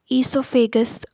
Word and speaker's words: esophagus: g o s or eso pha gus both are correct but the pronunciation is esophagus only commonly it is known